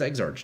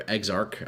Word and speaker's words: Exarch: What What does Exarchch do? You can have either Maven or Searing Exarch. Not both. Or Exark, I guess. Not Exarch.